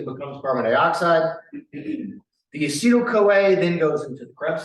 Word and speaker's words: acetyl-CoA: didn't spell it right, it's not actyl, but it's called acetyl-CoA. Acetyl-CoA. An acetyl group has 2 carbons. We lose a carbon as we do this, and it becomes carbon dioxide. The acetyl-CoA then goes into the